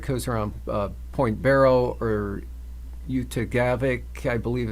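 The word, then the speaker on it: Utqiagvik: coast, central Arctic coast around Point Barrow, or Utagavik, I believe it's pronounced, had about 0.04 of an inch in the last 12 hours.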